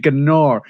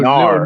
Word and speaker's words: Gnar: I called it Gnar. I said the G. How, you know what, bro? I'm English. I'm from UK. I say it like it is because that slang is more of a US slang. Let's just be honest, Yeah, bro. the G is silent.